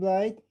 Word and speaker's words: Blyd: Uh Blight. Uh that's how you pronounce my last name and that's why I also spelled it differently than my original name.